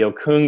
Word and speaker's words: Okung: Okung.